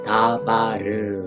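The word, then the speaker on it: דָּבָר: 그래서 다바 여기까지 읽고 맨 뒤에 레쉬는 리을 발음이라고 했죠. 그래서 아무런 발음보가 없기 때문에 리을을 붙여주시면 됩니다. 그래서 다바르 이렇게 발음하시면 되겠습니다.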